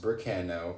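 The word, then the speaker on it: Berkano: And it says, pronounced Burkano.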